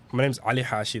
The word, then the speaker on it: Ali Hashi: Yeah, my name's Ali Hashi. That's like the original pronunciation of my name.